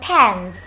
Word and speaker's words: pants: Ok, chúng ta đọc luôn pants. Đó, được chưa? Nếu các bạn đọc là pants thì nó sẽ cảm giác là